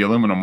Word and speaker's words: aluminum: No, carbon fiber's usually less, but yeah, I mean, if it weighs 3 pounds or whatever by itself, you imagine the aluminum one is, or as you say, aluminium.